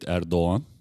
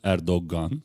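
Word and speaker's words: Erdoğan: It's actually the same with Erdogan. It's not Erdogan, as many people say. It's Erdogan. It's G, but it's soft G.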